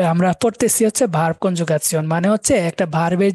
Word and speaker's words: Konjugation: এটার উচ্চারণটা সিয়ন এরকম একটা উচ্চারণ হয়। যেমন ইনফরমেশনকে বলা হয় ইনফরমাসিয়ন, কনজুগাসিয়ন। ওই যে সিয়নটা শিয়ন, ইয়ন। ইংরেজিতে তো শিয়ন, এটা সিয়ন হয়ে যায়।